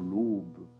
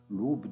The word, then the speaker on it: l'aube: l'aube de la france comme je suis du midi je ne sais pas bien prononcé jeudi l'oms ici il faut dire l'aube l'aube de la france c'est